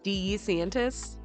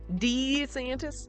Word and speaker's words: DeSantis: Ron's old campaignettes he's pronounces his name d santis D scientist I think I did see that actually it's very strange like he can't decide how he wants to say his name he was like a b testing his own name all year round but uh somehow